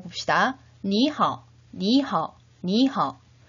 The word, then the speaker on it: 你好: 3번씩 발음해 봅시다. 你好, 你好, 你好.